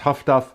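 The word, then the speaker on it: HF/DF: so things like uh hfdf which uh pronounced Huff High frequence high frequency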